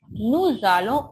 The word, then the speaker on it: nous allons: Nous allons au restaurant. With nous, allons come together, we pronounce this nous allons.